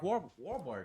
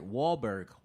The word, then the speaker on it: Wahlberg: I need a poncho like Mark Wahlberg. I can never say his name right. Wahlberg.